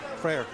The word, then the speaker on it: Frayer: Is that how you pronounce it, Frayer? Frayer.